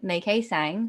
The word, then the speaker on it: Mai-Kee Tsang: myself so hi i'm may k sang so think of the month of may that's decay and i've got a silent t in my surname all right so my name is nikki sang and i'm a podcast